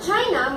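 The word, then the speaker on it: Qin: says the modern word China most likely derives from the name of kin pronounced Chin Dynasty yes the first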